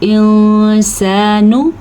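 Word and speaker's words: الْإِنسَانُ: युनब्बउल इंसानु। ठीक है, नून को लंबा नहीं करना, इख्फा ज़रूर करना है आपने।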